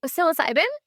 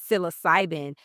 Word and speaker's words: psilocybin: And so, your specialty is, how do you pronounce it? Psilocybin. Psilocybin.